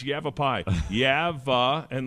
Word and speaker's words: Yavapai: eight years yeah and every time he referenced he never pronounced it right that's not a joke he never pronounced a ride and he said you have you've a be Indians here right that casino is owned by the evap Indians I said dad it's yabba pie yeah uh and like